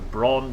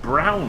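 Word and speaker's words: Braun: The brawn beard trimmer. It's actually pronounced brown, isn't it?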